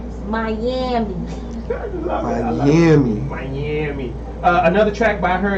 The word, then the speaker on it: Myammee: The way you spell her name is MYAMMEE. And how you say it? Miami.